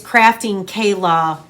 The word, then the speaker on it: Krafting Kaila: I think I said the name wrong. It is Krafting Kaila.